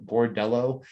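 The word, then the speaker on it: Bordeleau: debut for bertillo who was from michigan um spelled with like an l-e-a-u at the end bordello uh he didn't play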